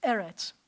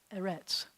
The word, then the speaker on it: eretz: So when you see those 2, you can sound it out and you can say rets, but I'm going to tell you that 100% of the time the accent's going to be on the first syllable. Most Hebrew words, the accent's on the last syllable. But when you have an the accent's going to shift to the first so it's eretz. It's not eretz.